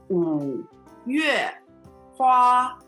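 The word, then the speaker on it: 五月花: So Mayflower in Chinese will be 五月花. Third tone, fourth tone, first tone.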